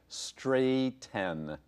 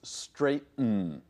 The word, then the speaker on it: straighten: to our verb here we spell it ght en so many students expect straight n and maybe it should be but it isn't it's straighten this sound we find